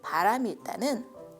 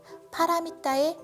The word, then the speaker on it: pāramitā: 바라밀 혹은 바라밀다는 파라미타의 한자식 발음으로 피안에 이른 상태 또는 최상의 상태를 의미합니다.